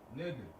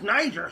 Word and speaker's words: Niger: And then it's still, and even if you were pronouncing it Niger, which is erroneous, which is not right, which is not true, it still means the same thing.